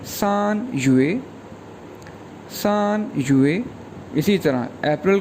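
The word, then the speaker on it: 月: इसके बाद मंथ है, मंथ को चाइनीज़ में कहते हैं YUE फोर टोन के साथ, ये प्रोनाउंस होगा युए, युए, युए।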